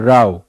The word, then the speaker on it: row: ROW भी है, रो एंड राव। सो ये प्रोनाउंसिएशन में फर्क आ जाता है। रो पंक्ति हो गई, बट जब राव बोलते हैं, दिस राव, यानी जब कोई विवाद चल रहा है, कोई टसल चल रहा है, वहां पे हम प्रोनाउंसिएशन उसकी बदल जाती है।